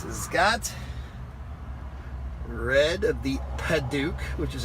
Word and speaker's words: padauk: tinted windows this has got red of the paduk which is how you say that um tan